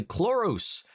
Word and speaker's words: Chloris: Fun fact, the scene at the strip club, the red-haired woman is actually Chloris, pronounced similar to Clarice.